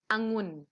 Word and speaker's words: องุ่น: อีก รอบ พวง องุ่น คำ ว่า หุ่น องุ่น มี สระ อะมั้ย ก็ ไม่ มี แต่ เวลา อ่าน ออก เสียง เรา จะ ออก เสียง แค่ อะ ตื่น เต็ม ๆ หรือ ว่า ให้ กึ่ง เสียง อ่ะ แค่ หนึ่ง เสียง องุ่น โอเค อ่ะ อยู่ ข้าง